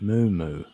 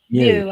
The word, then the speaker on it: Mew: Is it Moo? Do I say it right? Mew, as in few, F-E-W, Mew, Q.